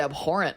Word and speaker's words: abhorrent: Big word, abhorrent over there. Wow. Somebody's got a vocabulary. Got a silent H in it.